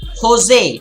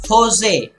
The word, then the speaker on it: José: pronunciation very important pronunciation the pronunciation is Jose the spelling is j po SP but it is josé josé raúl capablanca and